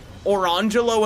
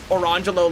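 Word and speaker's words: Orangejello: who named her twins Orangelo and Lamangelo. And you might say, oh, what are they named after? Yeah, it is spelled orange jello and lemon jello.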